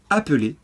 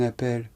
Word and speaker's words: appel: Cette règle vaut pour le verbe appeler et rappeler, qu'on utilise très souvent à la forme pronominale.